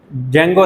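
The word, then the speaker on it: Django: For example हमारे पास websites के लिए एक डिजेंगो, आपने शायद सुना होगा, डिजेंगो, डी यहाँ पे वैसे साइलेंट होता है, जेंगो इसका डाटाबेसिस के वाले से नेम होता है वेबसाइट्स के लिए।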